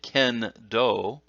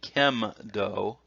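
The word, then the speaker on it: kendo: The n sound, for instance, if you're talking about sword fighting or bamboo sword fighting, you might say ken-do, but you don't say kem-do.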